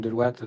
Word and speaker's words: Deloitte: Il y a longtemps, il y a presque 200 ans, William Deloitte, donc d'origine française, c'est pour ça que je le prononce à la française.